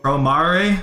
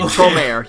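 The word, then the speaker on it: Promare: Is this a Pro Mari? Is that how it's pronounced? Not the right pronunciation, but that's the right thing. You get the question right. Promeare.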